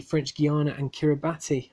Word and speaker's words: Kiribati: D French Guiana and Kiribati or Kira bass keeps getting there the correct pronunciation on that one went through Wallis and Futuna and st.